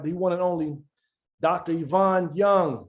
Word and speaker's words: Ivan: is an initial it yvonne is spelled just like ivan last name is young